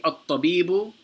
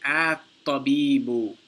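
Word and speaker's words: الطَّبِيبُ: So for example, he's saying that, you see, at-tabibu, the alif here is pronounced. You say at-tabibu, because it begins the sentence, there's nothing before it.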